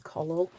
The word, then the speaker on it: Collall: I think it's Collage. It is. It's spelled COLLALL.